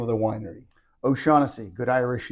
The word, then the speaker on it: O'Shaughnessy: you so first of all how do you pronounce the name of the winery oasi good Irish name good Irish name tell me